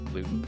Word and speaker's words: Louton: On this episode, we interview Chris Luton from St. Francis Winery. I said the last name wrong. Wait, Loud Luton. No, you didn't.